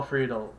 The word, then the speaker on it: Friedle: Friedle, I think it's how it's pronounced.